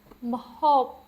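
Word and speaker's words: ម្ហូប: And just a reminder, the B is not pronounced. It's more of just a way to close your mouth to end the sound at the end of the word.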